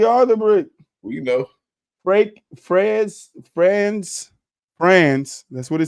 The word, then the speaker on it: Franz: Franz. That's what it says. Franz Wagner. Franz Wagner. That's what it says. It's Fran with a Z. Franz.